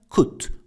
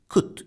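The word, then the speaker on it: could: arada dikkat edelim arkadaşlar Kut buradaki L sesini vermiyoruz Kut şeklinde okuyoruz şıkkut Fly Evet uçabiliyordu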